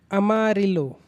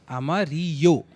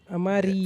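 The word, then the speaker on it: amarillo: ठीक है, दोबले एले का एक प्रोनाउंसिएशन है वाई। Example अमारिलो। अमारियो। अमारियो। फिर तू ल पढ़ रहा है, ल है ही नहीं वो, वही तो मैंने अमारियो। बताया। हाँ, अमारियो।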